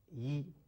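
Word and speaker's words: 一: Well, talking about the pronunciation of yi, normally it's pronounced yi, but be careful.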